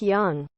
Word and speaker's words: Jung: He legit thought Jung was pronounced with a hard J and not the Swiss Y sound to make it sound like Jung.